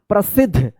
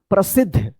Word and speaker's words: प्रसिद्ध: तो यहां पे आप सोच रहे होंगे कि आधा ध है नहीं यहां पे पूरा ध है और आधा द है। देखिए यहां पे विद्यार्थी जैसे यहां पे देखिए प्रसिद्ध ध उच्चारण पूरा हो रहा है ना प्रसिद्ध विद्यार्थी